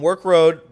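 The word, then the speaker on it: Werk Road: please please come on work road but not spelled like regular work it's We R K Road like twerk without the T that's right uh so Champions Grill work Road 7 p.m.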